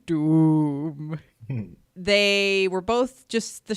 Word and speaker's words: Dume: Jedi Night and Dume, because that's how the wolf says it. So I'm going to say it like that. Dume.